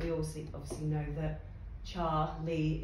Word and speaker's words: Charlie: also obviously know that char lee is how it's pronounced not charlay um but that is